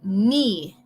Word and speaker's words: knee: Rodilla would be knee. No te confundes, no te preocupes por cómo se escribe esa palabra. La K es muda y la doble E es como si fuera una I en español. Knee.